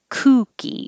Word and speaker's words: kooky: And number five is kooky, and that has an oo with rounded lips. So good is the same as cookie. So if you said this is a good cookie, no movement, keep your jaw more closed too. This is a good cookie. You have the right sound. Kooky is rounded more.